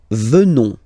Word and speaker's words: venons: Nous venons. Okay? O-N-S, classical ending for nous, okay? Final S not pronounced, so O-N, on, venons, venons.